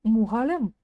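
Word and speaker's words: мұғалім: Сначала произносим букву О обыкновенную, а затем ее краткую версию.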